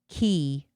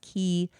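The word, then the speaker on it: Quay: I don't think my key I think is how you pronounce them. They're spelled Q A Q U A Y, but I think it's pronounced key sunglasses I don't think they were quite dark enough.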